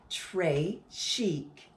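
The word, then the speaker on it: très chic: it like a bracelet trey chic you say it like this tray chic it means very fancy and the gravy is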